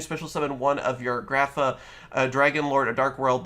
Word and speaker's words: Grapha: and of course here is the brand new grifa or grapha i should say i always want to say graphic it's graphic i believe it's technically pronounced it